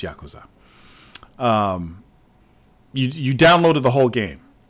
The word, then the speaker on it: Yakuza: six demo yeah kusa yeah it's it's actually Yakuza that's how you pronounce it it's not Yakuza it's Yakuza you downloaded the whole game and then you